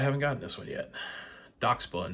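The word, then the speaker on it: Dachsbun: gotten this one yet doc spun not Dax bun I was giving y'all crap earlier about saying Dash bun and I'm sitting here saying it wrong myself that's cool though so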